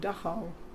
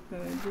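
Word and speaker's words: Dachau: After the war, my parents took my sister and I to a place that's called Dao. Do you want to know how that's spelled?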